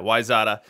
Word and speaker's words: Wayzata: Now, I believe the pronunciation of Wayzata is just that, Wayzata. I think that they were on an early Practice Makes Perfect League stream of mine, and I was saying Wayzata, and I was corrected.